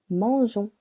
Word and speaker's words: mangeons: You can see over here we added letter E. Simply because in French letter G sounds G when followed by the vowels A o U. It would sound ga ja ju in between the letter E. Nous mangeons without letter A. It would sound Nousons.